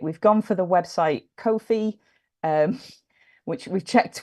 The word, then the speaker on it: Ko-fi: We've gone for the website Ko-fi. Which we've checked, we looked up the pronunciation. It is pronounced Ko-fi, but it's Ko-fi.